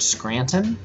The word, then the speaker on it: Scranton: me I can't stand when people butcher the word Scranton there's a t in it yeah and everybody you